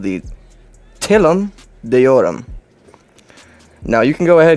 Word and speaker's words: Telum Deorum: it is a carrier ship and i will pronounce it for you here called the tillam deoram now you can go ahead and google what